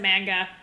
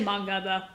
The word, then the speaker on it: manga: Okay, so most Americans do pronounce it manga. It's actually manga though.